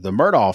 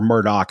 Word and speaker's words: Murdaugh: Speaking of true crime, down in your area, Brittany, there's the Murdaugh family murders. I've been listening to, or Murdaugh, I guess is how you pronounce it correctly.